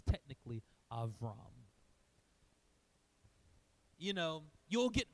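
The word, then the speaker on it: אברם: name here is aam it's a v sound it's not a b sound it's a v sound so if you want to be that person you're welcome to be it's technically avam you know you will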